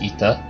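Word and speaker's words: aether: pulled you into effort it is pronounced as ether okay but our state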